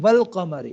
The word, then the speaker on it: والقمر: نا ال، ٹھیک ہے، لیکن اگر اس سے پہلے کوئی اور حرف آ جاتا ہے نا، جیسے واو آ جاتا ہے والقمر، تو اب وہ پھر حمزہ کے جو اوپر جو حمزہ ہے نا وہ گر جائے گی، ٹھیک ہے، تو ڈائریکٹ پھر جو پچھلا حرف ہوگا وہ لام کے ساتھ کیا ہو جائے گا، کنیکٹ ہو جائے گا، پھر ہم پڑھیں گے والقمر، جیسے سورۃ میں والشمس،